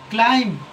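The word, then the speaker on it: climb: क्लाइम। क्लाइम। क्लाइम का मतलब होता है चढ़ना। चढ़ना। सी एल आई एम बी क्लाइम।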